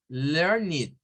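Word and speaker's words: learned: que esos son adjetivos Entonces todos los vamos a pronunciar como it O sea que ese va a sonar como blasit learnid wikidet it aquí se viene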